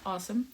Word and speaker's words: Asim: least the miner with Asim Sierra I have to pronounce it as awesome awesome uh nilo I will